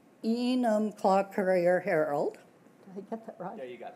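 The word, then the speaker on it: Enumclaw: still R is the editor for the E enum claw Courier heral did I get that right yeah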